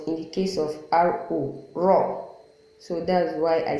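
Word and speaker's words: ر: RO, raw. Although I think in some riwayah of the Holy Quran, like Warsh, I think raw fatha is being pronounced ra, but with certain conditions. But if you're using hafs, you must call it raw, as in RO, if it's carrying fatha.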